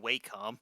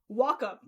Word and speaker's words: Wacom: Just how you pronounce that? I don't think Waycom. Nope. Nope. I actually I actually got a demo. Want to know what how uh that's actually pronounced? Wacom.